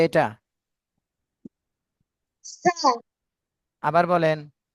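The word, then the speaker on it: ث: জিহ্বার আগা সামনের উপরের দুই দাঁতের আগার সাথে, ঠিক আছে?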